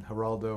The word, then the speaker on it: Geraldo: Uh I I I taught America that the G in Haraldo or the G in Spanish is pronounced H, you know.